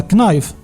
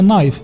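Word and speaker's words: knife: هذك الدي الاولى كنحيدوها زي ديك الكلمه الثانيه شنو نقدروا نقولوا لها كنايف لا كنحيدوا هذك الكا كتسمى نايف اللي هو الموس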